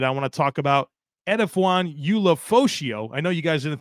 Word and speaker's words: Edefuan Ulofoshio: side of it I want to talk about edaan Ula foso I know you guys didn't think I was going to pronounce that correctly well jokes on you uh